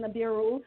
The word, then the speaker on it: Nibiru: I pronounce it Nibiru.